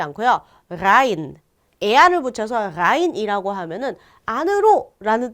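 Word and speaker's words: rein: 아인데요.이 아인을 그냥 아인이라고 발음하지 않고요. 라인 에아를 붙여서 라인이라고 하면은 안으로라는 뜻이 조금 더 강조가 돼요.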